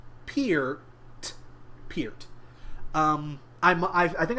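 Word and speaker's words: Peart: up again uh Neil Neil's last name is pronounced Pier like ear peer Pier um I I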